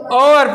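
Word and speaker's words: hour: देखो ये अपवाद है इसको क्या पढ़ा जाएगा ओवर पढ़ा जाएगा क्या पढ़ा जाएगा ओवर ओवर साउंड ओ की ही आएगी एच क्या रहेगा इसमें साइलेंट रहेगा एच क्या रहेगा यहां पे साइलेंट रहेगा इसलिए क्या आएगा इससे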